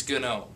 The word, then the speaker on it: GNOME: saying it that way it's GN know I don't care how